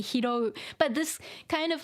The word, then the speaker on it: 拾う: And people living in Kyushu, they will say hirau instead. It's supposed to be hirou.